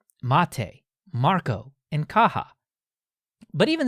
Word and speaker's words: MATE: desktop page was a quote the name mate pronounced mate comes from BBA Monte a species of Holly